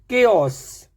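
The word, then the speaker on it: chaos: यदि सी डब्ल्यू के बाद एच आता है, सी या डब्ल्यू के बाद एच आता है तो ऑल टाइम एच जो है वो साइलेंट रहता है, उसका प्रोनाउंस नहीं करना होता है। ठीक है, पहला वर्ड देखते हैं, केओस। पहला वर्ड है केओस, तो इसमें एच नहीं है।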